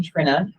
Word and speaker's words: Trina: together for a while it's spelled Trina but just to mess everybody up i' actually pronounce my name Trina so just act like there's two ends but when you send me an email don't put that second in um so yeah I